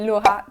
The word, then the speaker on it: Laura: name um probably okay in French I we say laa but it's quite hard to pronounce with the R so I don't no